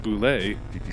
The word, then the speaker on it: Bulette: Yeah, and the canon pronunciation is a boule. I don't want to talk about the boule. What about Michael Boulay? The Bulette, the Yeah, Dungeons and Dragons monster, is canonically pronounced boule. because when they came up with it, they didn't know how to do French pronunciation.